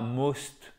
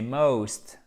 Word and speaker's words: most: What I like most et pas most. C'est pas most, c'est most. Ok? Most.